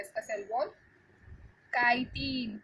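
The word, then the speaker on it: chitin: इसका cell wall काइटिन, चाइटिन नहीं पढ़ना है इसको, काइटिन।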